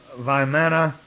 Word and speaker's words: Vimana: And Vimana, actually is the way it should be pronounced.